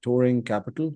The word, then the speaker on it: Touring Capital: So, Samir is a co-founder and general partner at Touring Capital. Am I pronouncing that right?